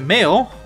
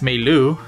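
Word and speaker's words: Mayl: However, remember that Mail, or for some reason in the cartoon pronounced Mei Lu, which is weird, gave us the wireless chip.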